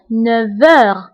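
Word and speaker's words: neuf heures: انتبهوا للنطق فقلت 9 heures V. نطقت لا لتر V مع أنه ما مكتوباش لأنه عندي لا liaison entre F et H.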